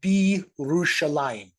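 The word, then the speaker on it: בירושלים: The bet means in, and Jerusalem on its own would be pronounced Yerushalayim. But when you put this preposition on the front here with a word that begins at a yod, it kind of all slides together, and this becomes Birushalayim.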